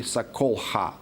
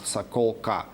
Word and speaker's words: Sakolha: That would be Sakolha, not Sakolka.